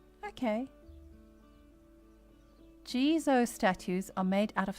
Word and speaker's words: Jizo: So, I didn't say it right. That Who knew that there was a third way? Gizo. Okay. Jeso statues are made out